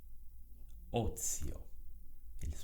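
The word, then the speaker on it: ozio: Thay vào đó, từ này được phát âm là o.. ..io. Âm Z được tìm thấy trong từ này là vô thanh.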